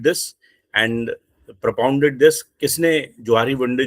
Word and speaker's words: Johari: एंड the topic is जोहारी window right लोग इसको जोहरी window जोहरी window कहते हैं लेकिन द